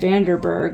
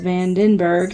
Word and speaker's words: Vandenberg: Bright And said Vanderberg all day today, and then realized it was Vandenberg.